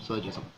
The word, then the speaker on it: syllogism: i pronounced that correctly silo so syllogism almost like syllable syllogism okay now this one